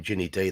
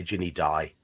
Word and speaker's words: Ginny Di: If she was in England, you wouldn't say her name Ginny D, though. You'd say Ginny Di.